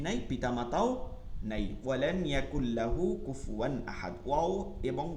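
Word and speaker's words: كُفُوًا: কুফুয়ান সমতুল্য, কুফুয়ান সমতুল্য, এখানে আমরা পড়ার সময় খেয়াল করব কুফওয়ান না বলি কুফুয়ান, কুফু ফু ফু ওয়ান, ঠিক আছে? ফু উচ্চারণটা একদম ক্লিয়ার করতে হবে পেশ দিয়া, কুফুওয়ান সমতুল্য, আহাদ একক বা কেউই এখানে বোঝাচ্ছে।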